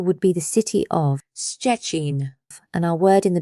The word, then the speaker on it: Szczecin: This looks scary, but it's pronounced like sh. Simply sh followed immediately by chi with no gap between them. An example would be the city of Szczecin, and our word in the beginning for beetle, chrząszcz.